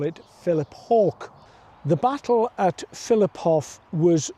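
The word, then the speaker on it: Philiphaugh: And uh the Jordis would pronounce this as Filipof, but the local people here call it Philip Hawk.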